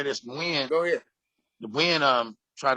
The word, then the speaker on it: Nguyen: No, not Nugent, it's Nguyen. Yeah, when you say it correctly, it means when you say it correctly, it's not Nugent, right?